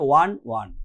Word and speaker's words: won: দেখো এখানে কিন্তু WON আছে, ঠিক আছে, ওন বলো না তোমরা, এখানে উচ্চারণটা করবে ওয়ান, ঠিক আছে, ওয়ানের মতো উচ্চারণ হবে, ঠিক আছে, pronunciation is also very important, ঠিক আছে।